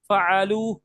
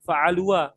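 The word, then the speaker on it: فعلوا: Fa'alu ya Ustaz Q di akhirnya ada alif fa'alu. Alifnya dibaca enggak? Enggak. Enggak dibaca ya. Walaupun ada alif bukan dibacanya jadi fa'al fa'alua fa'alua enggak.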